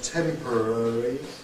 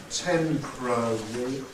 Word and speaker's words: temporary: to be cabic and in the word temporary temporary I think in my pronunciation I would make that four syllable word I think i' have this and one pronunciation A more relaxed quicker pronunciation will be temporary temporary which is three sybles temporary okay but